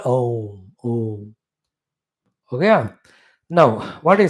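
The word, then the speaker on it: ॐ: So Om has got 3 syllables in it, matras in it. So the Om is a letter also. Om is a word also. The only thing which is a letter and word. Om. So A and U and Ma. These are the 3 syllables together. Om.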